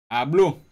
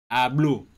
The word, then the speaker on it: ABBLO: How you pronouncing that name? ABBLO. ABBLO.